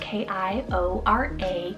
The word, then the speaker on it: Kiora: We then have the name Kiora, spelled K-I-O-R-A, Kiora.